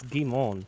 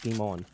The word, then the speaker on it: Guimond: Now, do you call him Gumond or GMD? What do you normally run with? As the French pronunciation sometimes can be a trip. It's Guimond, actually. Guimond? There's no D. It's silent. It's Guimond.